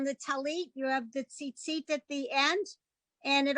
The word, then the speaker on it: tzitzit: This paragraph is the commandment for tzitzis, as some people would pronounce it, right? And that's why you have the on the talit, you have the tzitzit at the end, and